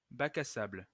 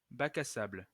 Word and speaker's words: Bac à sable: Actually, turns out Bacasable is, oops, Bacasable is French, pronounced Bac à sable. Bac à sable.